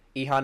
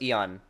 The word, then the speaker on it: Ilhan: It's pronounced Ilhan? I thought it was Eon. Ehan. Oh, it's Ilhan. Okay.